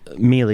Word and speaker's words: Mele: No, Mele is how we pronounce it. Mele.